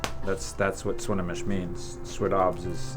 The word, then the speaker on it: Swinomish: that's what Swinomish means sweet OBS is how you say it in our language and that means we